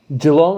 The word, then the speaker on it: Geelong: If the ball gets down there to him, that's the Geelong.